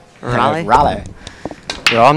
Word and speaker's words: Raleigh: Raleigh. Raleigh? Raleigh.